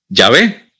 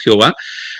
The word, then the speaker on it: Yahvé: Y el otro nombre de Dios es Yahvé, que nosotros lo conocemos, que eso es otro tema para otra clase, como Jehová, que realmente no es un nombre un poco mal entendido, no es el nombre más acertado, para la traducción más acertada del nombre realmente no es Jehová.